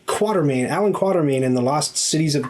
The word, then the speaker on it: Quatermain: i always pronounce it everyone wants to say quarter main but there's no r before the t quarter main allen quatermain and the last cities